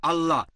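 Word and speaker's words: الله: একইভাবে আমরা জানি সঠিক উচ্চারণটা হচ্ছে আল্লাহ। তারা বলে এলা, আমরা বলি আল্লাহ, সমস্যা নেই, সঠিক উচ্চারণটা হচ্ছে আল্লাহ।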